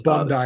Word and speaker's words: Bondi: and he was like, "Say Bondi Beach." And I was like, "Bondie Beach." And he's like, "Yeah, he said it wrong." He's like, "Classic American." And I was like, "Go fuck yourself." Bond. Bond guy. Yeah, it's Bond guy, you fuckhead.